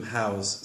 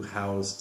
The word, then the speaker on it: house: about this one, to house something. Notice the difference in pronunciation. House with an S sound is a house versus house with a Z. When it is used as a verb, to house something, to contain something.